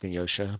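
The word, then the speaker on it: Genosha: you were there and it's genosa not just making sure cuz somebody's going to yell at us always pronounced Ginosha but yeah uh so ora No.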